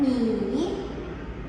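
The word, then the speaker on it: 你: Sekali lagi nada 3 ni.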